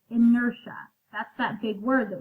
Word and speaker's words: inertia: this isn't felt kind of funny but it's pronounced inertia inertia is an object's resistance to change its